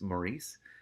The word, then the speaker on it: Maurice: It's hard to say Morris sometimes because my dad's name is spelled the same way, but it's Maurice.